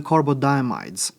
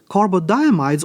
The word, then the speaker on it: carbodiimides: But before we jump into the reaction mechanism and see how that works, let's talk about the carbodiimides. Carbodiimides, also called carbodiimides, sometimes you can hear either pronunciation, is essentially just a